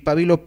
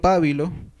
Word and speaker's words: pabilo: este grupo podemos mencionar las palabras fárrago fárrago que viene del latín fárrago y pabilo pabilo del latín para pink luz papyrus que se suelen pronunciar esdrújulas aun cuando eran llanas en latín y fréjol fréjol y